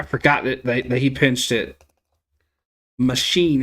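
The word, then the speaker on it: Machín: Machine is how you apparently say his name.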